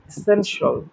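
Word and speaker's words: essential: আপনাদের সাথে শেয়ার করি এই দুইটা উচ্চারণ কত ভুল আছে আমাদের এটা একটু ভালো করে মনে রাখেন টি আই এল আর সি আই এল এটার উচ্চারণ আমরা শিয়াল করি এগুললা শিয়াল হবে না এগুলার উচ্চারণ সল ফিনান্সল এসেন্সল ক্রুশল এরকম এটা খুব কমন মিস্টেক আমাদের উচ্চারণত আমরা ফিনান্সিয়াল বলি, এসেনশিয়াল বলি, ক্রুশিয়াল বলি। এরকম করে বলি না। এগুলা কিন্তু ভুল।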